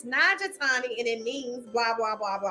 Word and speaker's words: Nagatani: Is it Nagatani? Did I pronounce it correctly? You did. Perfect. I always tell people, I'm like, it's phonetic, just sound it out.